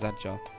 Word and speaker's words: Zadjar: Zadjar could be the way it's written, and it's pronounced as Zadjar.